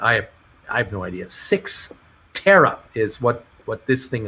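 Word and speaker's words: Cyxtera: well we'll see more of that i think hebrews michael uh this this sykester thing is pronounced six terra thank you for helping me out with that i i have no idea six tera is what what this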